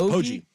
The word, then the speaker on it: Poggi: How do you pronounce this guy's last name, Buck? Biff Poggi? It's Poggi.